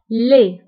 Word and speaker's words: laid: فبالنسبة لدي ما كنتبقاش في آخر الكلمة كنقولو laid قبيح هي laid.